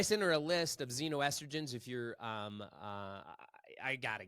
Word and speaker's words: xenoestrogen: You can use ChatGPT and type in xenoestrogens. List me sources of xenoestrogens, Xeno, estrogen, ESTROGEN, xenoestrogen. Sounds like a Z, but it's an X. It's like Xavier, right? It's spelled with an X.